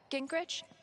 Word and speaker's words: Gingrich: Gingrich? Is that how you say it? Yeah, that's right.